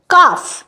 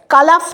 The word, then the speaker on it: calf: Next হচ্ছে কাফ, CALF, কালাফ তো বলি না, CALM কালাম বলি না, কাম।